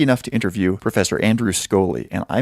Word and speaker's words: Scholey: to interview Professor Andrew Scholey, and I mispronounced his name Andrew Scholey. It's an SCH name, and I made the rash assumption that it was pronounced like sh instead of sk.